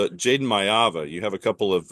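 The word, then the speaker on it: Maiava: oh um it's Jaden mava you have a couple of uh you have a couple of letters reversed it is not a myva it is a mava okay that's why I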